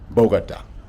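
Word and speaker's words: Bogotá: called it the same thing, but it is pronounced Bogota.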